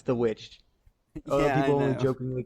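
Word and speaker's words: The VVitch: the it's the vic yes spelled like that but it's the witch some people only jokingly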